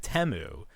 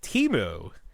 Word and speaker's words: Temu: yikes now somebody this year this year they pronounced it temu but last year they had an ad where it was pronounced timu and that's how I'm going to continue to